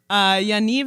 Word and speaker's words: Yaniv: blessed be his name yaniv is pronounced like Yaniv and it rhymes with achieve that's what it says